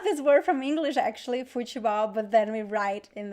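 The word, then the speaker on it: futebol: so here in portuguese the word fuchibao even though we pronounce ball we don't write as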